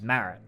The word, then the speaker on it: Marrett: I found your last name's Marrett. What a beautiful name. Marrett. Marrett's a horrible last name. Sounds like a fucking vegetable. Yeah, well, it does rhymes with carrot.